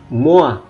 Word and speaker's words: moi: Oke, di sini yang unik dalam bahasa Prancis, kalau OI jangan ragu, itu dia dibaca OA. Loisir, moi, point, 3, voiture.